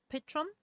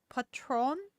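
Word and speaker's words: Patrón: Patron Patron Patron Patron the accent is on the bottle it wasn't in the script I think Spanish it's Spanish Patron P Patron Patron Patron patch Pon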